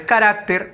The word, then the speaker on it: carácter: tilde por norma general ahora otra observación la palabra es carácter más no es carácter esa palabra no está